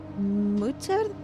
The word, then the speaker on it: Mutter: The U is pronounced as U in boots. Mutter?